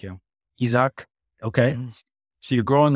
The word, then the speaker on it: Ichak: That is Isaac basically, but yeah, Ichak. Yeah. Ichak.